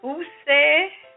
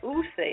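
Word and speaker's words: D'USSÉ: De Ousse Cognac VSOP.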